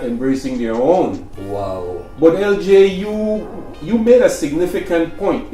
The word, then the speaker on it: Eljai: So it's actually Eljai. Eljai. Yeah. And it has a meaning. Yeah, and that's how the Belizeans in Belize say. They Yeah, say Eljai. Yeah, Eljai. Yeah. And they're not saying it wrong.